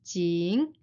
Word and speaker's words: 井: down characters by character and we will practice pronunciation together the first character is jing a whale and the second one is the